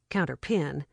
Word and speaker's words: counterpane: She pulled back what Miss Simmons had called the counterpane and had pronounced counterpin, lay down, and went to sleep.